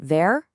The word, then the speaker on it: wer: Just remember that that W is pronounced like a V in English. So, you've got "wer" for who, "was" for what, "woher" for where from.